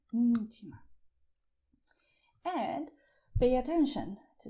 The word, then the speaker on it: íntima: You see, "ÍNTIMA" is stressed here: "ÍNTIMA".